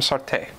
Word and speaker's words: Sartre: I'd assume Arlette Elkheim Sartre. That's Sartre. Is that Sartre?